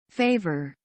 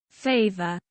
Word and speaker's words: favor: favor, Nah, jadi di British itu R-nya nggak begitu jelas. Itu adalah salah satu contoh British banget. Jadi apa ya, penulisan apa ya, pengucapan R itu biasanya dia agak semu gitu.